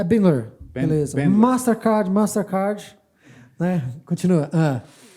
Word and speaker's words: Bandler: Ah, tá, porque eu pronunciei errado aqui. Não, acho que não. É Bandler.